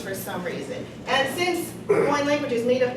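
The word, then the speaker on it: Hawaiʻi: I've heard it said Hawaii, Hawaii, Hawaii, all kinds of different ways, but the correct pronunciation is Hawaii. See, there's that glottal stop right there, there's that okina. So it's actually Hawaii.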